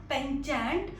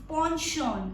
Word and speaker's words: penchant: It means liking for something or somebody, and the pronunciation of this word is not penchant, it's penchant. I repeat once again, penchant.